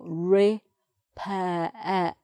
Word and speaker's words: repair: not pronounced repair ah so we've got re pair er so that one isn't pronounced at the end that one is that one isn't so it's repair like that open sound at the end repair okay we drove the